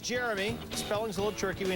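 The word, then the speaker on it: Jeriome: First of all, it's pronounced Jeremy.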